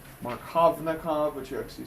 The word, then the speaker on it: Markovnikov: The V is silent. Markovnikov, but you actually say it Markovnikov.